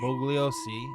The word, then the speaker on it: Bugliosi: Bugliosi and the Bugliosi. media. The G is silent.